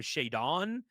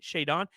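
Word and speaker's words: Shaedon: He called him Shaddon Sharp. Like, what are we doing? Shayon.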